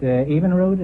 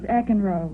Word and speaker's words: Eckenroad: Evenroad, is that the way you pronounce it? No, it's Eckenroad.